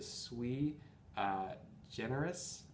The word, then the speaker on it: Sui Generis: This is the Sweet Generis, I think that's how you say it, it's Latin for unique, set of spirits.